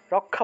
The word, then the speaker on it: রক্ষা: যে জায়গাতে আমরা ক্ষীয়টা পেয়েছি এই অক্ষরের পরিবর্তে ক যোগ মূর্ধন্য ষ চলে আসবে, অর্থাৎ ক উচ্চারিত হবে তারপরে স উচ্চারিত হবে।